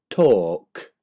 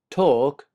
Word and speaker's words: talk: wall skull chalk stalk talk walk halt maltt salt chalk stalk talk and walk you cannot hear the L being pronounced halt maltt salt of